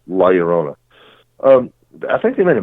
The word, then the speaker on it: La Llorona: It's spelled with 2 L's. It looks like it should be La Llorona, but it's La Llorona.